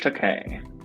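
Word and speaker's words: Takei: George Teay. Yes. And it's pronounced a K like I'm gay.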